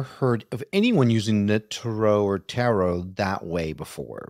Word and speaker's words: tarot: Tarot. All right, like, yeah. Yes. I would say no to the tarot. That sounds like carrots.